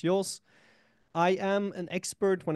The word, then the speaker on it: Joos: that's my full name if you ever wonder how to pronounce my last name it's yours I am an expert